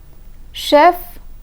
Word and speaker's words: chef: silent chef and narrow chef and NER the F in chef is pronounced but the F in there is silent I will again repeat